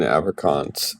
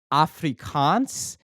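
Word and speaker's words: Afrikaans: Everyone's going to learn apricants and then uh record over. If you want to do that, you have to get the get the accent right. So, first of all, it's it's pronounced Africans and then the way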